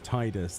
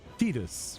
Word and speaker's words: Tidus: doesn't make sense that it'd be called Tedus cuz Tidus the game's about water tide but apparently a lot of people think it's Tedus which makes no bloody sense.